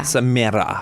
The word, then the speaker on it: Samaire: It's pronounced Samaire. Samaire. Actually, I did that really well. After 40-something years, I have it down, finally. Yes. Was it ever hard to pronounce your name? Because at first my parents named me, and they named me Samaire because that's how it looks phonetically.